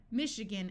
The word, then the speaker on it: Michigan: a type of fabric Michigan note that this a schwas Michigan is a state in the United States in this word the I is going to sound like a long e machine brochure parachute notice